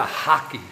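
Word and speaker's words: rack: And he bought uh they call it a hockey here. R A C K. Hockey they pronounce it.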